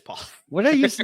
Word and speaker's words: Pollard: Is Pollard? Yeah, it is Pollard.